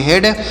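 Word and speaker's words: head: तो इसे क्या पढ़ेंगे एच इ से एच से पढ़ेंगे ह और यहां पर इ ए का उच्चारण एक ही मात्रा के रूप में डी से ड तो इस पढ़ेंगे हेड और देखिए हे ए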